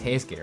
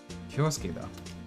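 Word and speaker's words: 恭介: It's Heisuke, right? I haven't just been saying his name wrong, have I? Heisuke? Heisuke. Kyosuke? Kyosuke da. Okay, it's Kyosuke. His name is actually Kyosuke.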